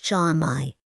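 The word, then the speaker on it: Cama-i: It's pronounced Chamai.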